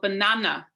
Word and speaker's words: banana: So for example, banana. So we stress the second syllable.